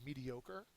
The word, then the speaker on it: mediocre: So it's an adjective. The third syllable is accented.